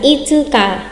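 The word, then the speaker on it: 五日: Đọc cho mình là itsuka, itsuka để tránh nhầm nha.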